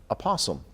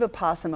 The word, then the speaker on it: opossum: from up north is opossum this an opossum opossum I think people people use the nickname opossum don't like to pronounce the Opie in front of this what's what's this critters